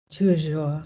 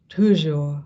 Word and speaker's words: toujours: Pronounce it properly. Toujours. No. Toujours. No. Toujours. No. Toujours. No. Ou. Toujours. Toujours. That's it.